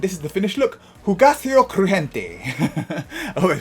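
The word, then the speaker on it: Hugáceo Crujiente: Hugaceo Crujiente. Oh, I pronounced that right.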